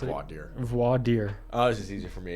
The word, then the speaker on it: Voir Dire: Glaucoma 2 versus how do you pronounce it? Voir dire. Voir dire.